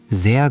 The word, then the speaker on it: sehr: Sehr gut, danke. Beautiful pronunciation. That R in sehr is nice and soft, just like a German speaker.